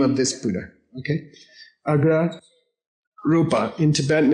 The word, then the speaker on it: Agra Rupa: Say A-G-R-A-R-U-P-A. Agra Rupa.